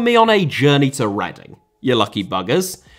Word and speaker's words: Reading: on a journey to reading you lucky buggers commonly mispronounced as reading due to its spelling by those outside of Britain a market sound famous